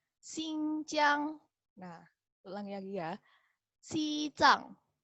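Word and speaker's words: 新疆: Dengerin ya cara bacanya. Xizang. Lagi. Xizang. Kemudian nomor 2, nih, Guangxi. Guangxi. Guangxi. Ningxia. Ningxia. Neimenggu. Neimenggu. Xinjiang. Xinjiang.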